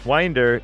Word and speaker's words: Winder: Georgia W Winder Winder Winder is pronounced with a long eye like the word mind Winder Take Care Wind